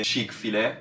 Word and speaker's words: Chick-fil-A: Il mio preferito è, che io non lo so pronunciare ragazzi, Chick-fil-A, si pronuncia così, e io gli dico sempre ragazzi andiamo da Chick-fil-A Fish, così, giusto per chiamarlo così perché mi piace.